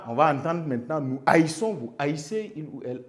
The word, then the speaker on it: haïssons: vous allez avoir nous haïssons, mais si ça reste de cette manière, la prononciation ne peut pas se dire haï. Voilà pourquoi vous avez le i qui devient un tréma.